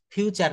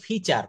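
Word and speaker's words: feature: প্রথম দিকে একটা বাক্য ভুল করেছিলেন, traffic jam ইজ a common ফিউচার, না, এটা উচ্চারণ করতে ফিচার।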